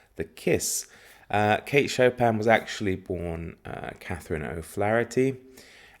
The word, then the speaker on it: Chopin: it's by kate chopin i'm saying chopin like the composer i hope that's the correct way to say it and uh who is